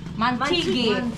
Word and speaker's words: Mantigue: Làm thế nào để bạn phát âm tên của hòn đảo? Mantigue.